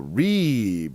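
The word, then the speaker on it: ריב: Rib or rub. Or reeb or rub. Notice the I is pronounced as a long E.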